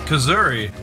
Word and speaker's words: Kuzuri: How do you pronounce that, Mike? You hit it. It's Kuzuri. Kuzuri. That's what he told me he prefers.